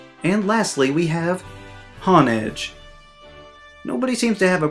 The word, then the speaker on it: Honedge: However, some of those people miss that the first part is hone, which is a word for sharpening, as in when people say to hone your skills. There's even a move in the game called Hone Claws that says the user sharpens their claws to raise their attack. Nobody calls that move Hon Claws.